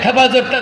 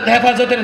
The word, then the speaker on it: হেফাজত: এইতো আলকায়দা পাওয়া গেছে হেফাজত হেফাজতের নামে এক ব্যক্তিকে ধরে নিয়ে আদালতে দাঁড় করিয়েছে ওই ব্যক্তি হেফাজত শব্দ উচ্চারণ করতে পারে না তো হেফজত হেফজত হেফজত বিচারপতি বলে আরে কারে